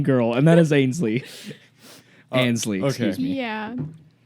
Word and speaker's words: Ansley: Ansley, okay. excuse me. Yeah, Ainsley. So, okay. he just thinks there's an I in my name and there's not.